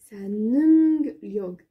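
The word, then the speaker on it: 능력: Alors, c'est un nunglyog. Nunglyog. Alors, parce que c'est un N-E-U-N-G. Nunglyog.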